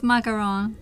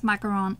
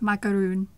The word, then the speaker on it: macaron: I can't either but when people pronounce macaron as macaroon macaroon like it's different thing macaroon is the the coconut snack my camera is the